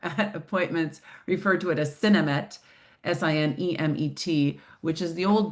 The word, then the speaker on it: Sinemet: That's a lot of syllables, so you might hear me either in today's talk or appointments, referred to it as Sinemet, S-I-N-E-M-E-T, which is the old brand name.